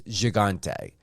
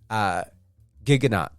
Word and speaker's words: Gigante: The French pronunciation is Gigante. When I spoke to Cam, it's Gigante.